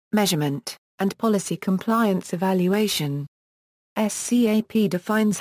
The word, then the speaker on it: SCAP: Purpose: the Security Content Automation Protocol, pronounced SCAP, combines a number of open standards that are used to enumerate software flaws and configuration issues related to security.